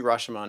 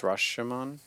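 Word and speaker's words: Rashōmon: I think it's Rashomon. We should be asking you. In Japanese, it would be Rashomon.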